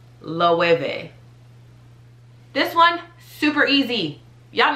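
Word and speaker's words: Loewe: but it is pronounced lovey so that w is really like a v loeve this one super easy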